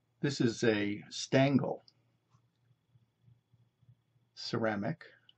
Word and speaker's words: Stangl: this is a stangle ceramic it's flower vase for single rose bud single Bloom see the hole for the stem stangle is spelled s a n g l these